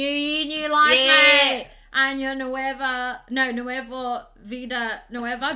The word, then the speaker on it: año: Yes, please never say ano because that means anus.